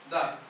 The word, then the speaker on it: the: সো লিখতে গেলে টি বলবেন, বা উচ্চারণের সময় যখন হচ্ছে যে কনসোনেন্ট হবে তখন দা বলবেন, আর ভয়েল সাউন্ডের সামনে বলবেন কি? দি।